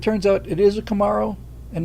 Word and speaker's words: Camaro: Oh, and you're saying it wrong. Not Camaro. It's Camaro. It's like Kamala, not a Camaro.